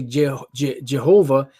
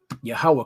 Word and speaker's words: Yahweh: you really pronounce this they say jehovah but it's really yah yahweh because there's no js in the hebrew and there are no